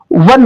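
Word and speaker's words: one: ओ Wavell है बट इसका जो प्रोनाउंसिएशन होगा वन, वा हिंदी का वावेल नहीं है, तो यहां पर भी आर्टिकल ए ही रहेगा।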